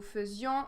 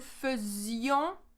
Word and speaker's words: faisions: So here, one thing about the pronunciation is that here we pronounce is as a E. A silent E, the symbol is this way. So nous faisons. We don't say nous faisions.